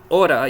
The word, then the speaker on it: hora: So the way you pronounce T between two vowels in English is exactly the same sound you need for a soft R. So that's hora.